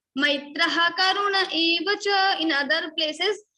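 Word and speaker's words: मैत्रः: According to rules, there is Visarga, Maitraha, Visarga. So ha sound should come. Maitraha Karuna Evacha.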